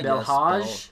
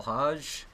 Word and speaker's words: Hodge: um excuse me if I say your last name wrong but the lodge Hodge yeah that's my be my dodge no Hodge Hodge be elh AG if you're